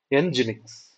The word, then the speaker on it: Nginx: Nginx. So that's how the pronunciation is.